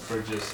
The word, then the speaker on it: Burgess: It's Burgess. There isn't actually a second R.